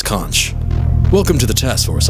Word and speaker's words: CONCH: The Center of Neurological Capacity Harnessing, but it's pronounced Conch.